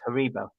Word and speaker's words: Haribo: say it and also the correct way to say haribo is haribo let's talk about this